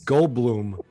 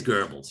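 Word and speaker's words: Goebbels: get it right guys what was I pronouncing gold you said geres I pronounce said gold Blum I always pronounce that isn't it g o e BB e l i don't know the propaganda guy yeah yeah it is Gales you're right I like that he's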